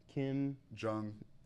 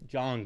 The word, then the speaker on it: Jong: Jung. How do you spell Jung? Like this? Jung. Yeah, Un. it's right there first. Yeah, Jong. It's Jong. I said it wrong Racist.